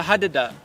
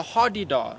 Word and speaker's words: hadada: hadada? Yes, the hadada. It's pronounced with 3 A's. There's 3 A's in there. Although Right. I've heard some people call it the hardy-dar.